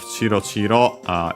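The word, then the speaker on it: チロチロ: The accent, by the way, of Chiro Chiro, the accent on the first mora, as usual for this.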